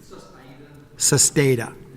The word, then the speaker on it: Sustaita: O'Connor, when you're ready, you can correct me if I've mispronounced that name. Sustaita.